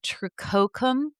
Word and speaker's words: tricoccum: Tricoc- How do you do those two C's in Latin? Is it like Italian where you do that ch sound? Well, no, with two C's Tricoccum? Tricoc- ramps. Um, t r i c o c c u m. Tri- I would say tricoccum, like sarcococca.